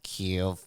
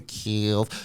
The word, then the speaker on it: Kiev: a meeting where they've been told how to pronounce Kiev. Yeah. So it, you know, 3 weeks ago it was Kiev and that's the end of it.